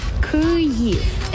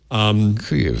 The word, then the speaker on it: Kyiv: Kyiv. It was reduced to one syllable, so Kyiv. No, Kiev.